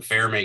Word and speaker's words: Fermi: And I've mentioned it to my students before, we call them Fermi calculations, F-E-R-M-I, because it's an Italian pronunciation.